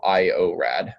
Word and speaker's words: IORAD: So IORAD, like just how it sounds.